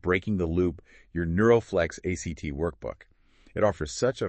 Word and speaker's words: ACT: We're going to explore Neuroflex ACT that's pronounced act like the verb, right?